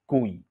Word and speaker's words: GUI: computer with a graphical user interface or GUI pronounced as GUI all marks are made by one company and